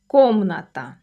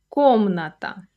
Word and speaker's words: комната: Notice where the stress falls. Комната. Комната. That first syllable is the strong one.